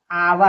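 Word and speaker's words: hour: HOER आवर, आवर में क्या है, H साइलेंट है, O आया है।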